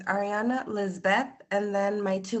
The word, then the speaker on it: Ariana: No, Ariana with A-R-I. Ariana? Yep, without the D. Oh, you don't pronounce the A?